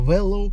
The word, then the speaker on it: Wellow: поэтому ссылочка на сайт wellow будет в описании ударение на О говорите без ошибок не